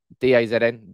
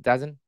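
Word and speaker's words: DAZN: was uh speaking with d azn dazen that's it i never know how to pronounce it he was a pundit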